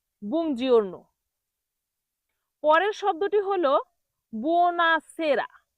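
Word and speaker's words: buongiorno: বুজারণ। তবে এটার সঠিক উচ্চারণ হবে বুজিওরন।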